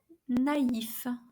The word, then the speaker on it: naïf: So each vowel is pronounced separately. Maïs, which means corn. Noël means Christmas. Or naïf, which means naive.